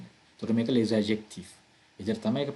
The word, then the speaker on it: les adjectifs: තව බලන්න මම මේක pronounce කරද්දී මම කියන්නේ les adjectifs කියලා නෙමෙයි. මොකද මෙතන මේ අදාළ word එක end වෙන්නේ s එකකින්.